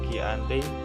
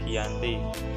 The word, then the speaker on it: Giyanti: yakni di desa jati dalam pelafalan Belanda ia Hai sebagai giante tentang sejarah tertulis yang terbaca sebagai Giyanti tempat tersebut sekarang dikenal